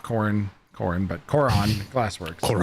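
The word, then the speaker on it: Korran: Corin, but Cororon Glass Works. Cororon.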